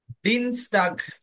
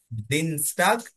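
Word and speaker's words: Dienstag: জনটা Starc হ্যাঁ এরপর Tuesday কে কি বলে দিন স্টাগ দিন স্টাগ আই ইয়ে থাকলে ই এর মত উচ্চারণ হয় এজন্য দিন স্টাগ দিন স্টাগ টাগ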